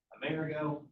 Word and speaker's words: Amerigo: America and South and it's actually named after Amerigo America just over the years the pronunciation just got awful but that's what happened